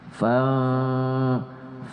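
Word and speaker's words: ف: ya fa fa fa Itu adalah huruf huruf bibir yang terbuka ada fa fa ada sedikit ke gigi ujung gigi fa fa jadi membacanya gak boleh dikatukkan bibir kita gak boleh fam gak boleh dibuka mulut sedikit fam Nah karena ikhfa itu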